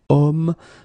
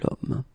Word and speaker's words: homme: So remember, I say the sound of a vowel because, of course, if you look carefully, you've got H here. Okay, and it's not a vowel at all. But then in French, we don't pronounce it.